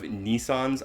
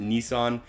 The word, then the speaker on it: Nissan: a lot of Nissans I'm going to pronounce it Nissan everyone here pronounces it Nissan including the car dealerships and on the commercials and I understand that some people pronounce it Nissan and maybe officially on their website it is Nissan it will be Nissan